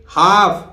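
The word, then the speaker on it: half: है बताएंगे बने रहिए इसी तरह देखिए हाफ यहां एल साइलेंट एल का जब नंबर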